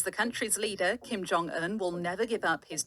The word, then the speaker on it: Jong-un: 우리말로서는 이름이 그렇게 되지 않으리라 생각이 될지 모르겠지만 외국 사람 입장에서는 이걸 나누게 되면 존, 건이라고 되는데 실제로는 정은 또는 종은 이런 식으로 하게 되려면 이 사이를 꼭 띄워서 이렇게 나눠서 발음을 해달라는 그런 표시가 되겠습니다.